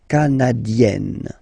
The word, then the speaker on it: canadienne: Remember, here you've got double N, so you've got to open the so it will become canadienne.